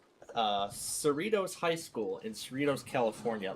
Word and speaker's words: Cerritos: Cerritos, that's how I pronounced it originally, but Cerritos High School in Cerritos, California.